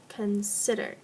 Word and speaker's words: consider: Consider. So, check out the syllables here. There are 3 syllables. The one that has the emphasis is the middle group of letters. So, please underline the SI in consider.